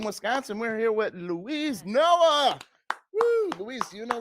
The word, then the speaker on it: Noe: Noe. Because we didn't have the little accent. I looked. Just how it's spelled. No A. There's no A in there.